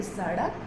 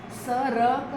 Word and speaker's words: सड़क: हमने देखा है कि कई बार लोग इस जो दो वर्ण को इंटरचेंज कर लेते हैं, जैसे कि सड़क, लोग क्या सड़क बोलते हैं. This is very wrong. सड़क, सड़क को सरक बोलेंगे तो again it is turning of type of thing.